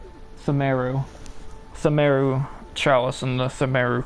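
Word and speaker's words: Pthumeru: Themeru. PTH, that'll be silent. Themeru.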